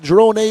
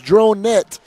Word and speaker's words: Dronet: can pronounce it right it is not Dron a it is dronette who is one hell